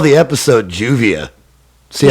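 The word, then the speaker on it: lluvia: again see this is juvia yeah how do you spell that l-l-u-v-i-a but it's juvia yeah makes like a j sound when there's two l's together juvia yeah it would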